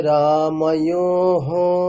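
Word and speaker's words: রামঃ: রাম শব্দ রাম রামে রামহ রামেশু রামে রামু আচ্ছা ওই যে উচ্চারণটা আছে না রাম অন্তস্থ ওকার বিসর্গার উচ্চারণ কেমন হবে রাহ ঠিক আছে রামহকার রামহ ঠিক আছে আরেকবার রামে রামহ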